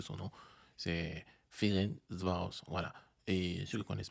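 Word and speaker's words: Ferencváros: le club de ferenos voilà aujourd'hui j'ai bien prononcé son nom c'est ferenvos voilà et ceux qui connaissent pas AB Maiga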